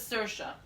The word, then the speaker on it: Saoirse: It says it's pronounced as Saoirse.